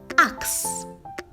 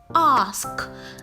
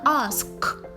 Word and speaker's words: ask: mispronounced as us or ax which is wrong the correct pronunciation is ask the k sound is the last sound heard so try not to interchange with this by saying ax brother ask okay now in the